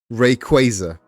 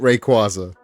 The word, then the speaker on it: Rayquaza: Apparently they they put out an official pronunciation of it that it is in fact Rayquaza. And now I'm going back to pronouncing it Rayquaza.